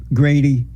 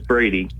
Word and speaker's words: Brady: black conservative Grady? It's Brady. Brady, yeah, Brady. Oh, they have a G here for some reason. It's Brady, not. Oh, okay. Yeah, they spelled your name wrong.